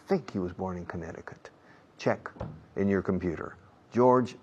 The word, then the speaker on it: Connecticut: He was born in Connecticut. Connecticut. Yeah, Connecticut. La C en medio no se pronuncia.